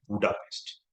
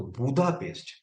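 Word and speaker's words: Budapest: लोग या वेस्टन लोग हंगेरियन लोग उसको उच्चारण करते बु वो लोग ड नहीं बोलते द बोलते व लोग ड बोल तो बुधा पेस्ट बुधा पेस्ट का मतलब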